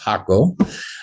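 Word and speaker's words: Jaco: area to area where I'm at is called Hakaco Beach on the central Pacific coast uh for anyone listening that hasn't been there if you're googling it it's J ACO, but it's uh pronounced Hakaco.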